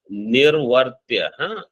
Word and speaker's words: निर्वर्त्य: तथा प्राण निर्वर्त्य, निर्वर्त्य, you have to remember how to pronounce. निवर्त्य is different, निर्वर्त्य is different.